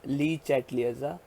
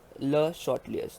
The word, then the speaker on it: Le Chatelier's: Now guys, don't pronounce it as Le Chatelier's. It is a French name, that is Le Chatelier's.